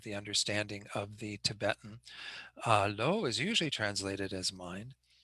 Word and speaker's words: Lo: first dot is Lo, it's pronounced Lo.